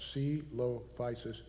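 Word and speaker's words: Coelophysis: like civil devices well this is how you pronounce it C low physis comes from the Greek Talos which means hollow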